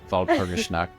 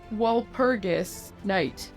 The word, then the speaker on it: Walpurgisnacht: Walpurgisnacht. Nacht is night in German. Yes. So it's Walpurgisnacht, if you were to say it in an American accent.